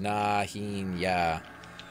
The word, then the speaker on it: Najena: It's pronounced Najena. I always call it Najena.